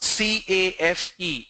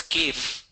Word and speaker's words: cafe: Joseph asked me, how do you pronounce C-A-F-E? It's pronounced as cafe. In Hyderabad, I don't know why, very funny, people pronounce that as cave.